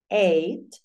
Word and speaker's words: eight: Four, five, six, se eight. Acuérdate que la GH no suena.